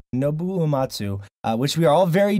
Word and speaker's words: Nobuo Uematsu: Was it pronounced Nobuo Uematsu? Yeah. Nobuo Uematsu. Nobuo Uematsu, which we are all very jealous this week in Japan.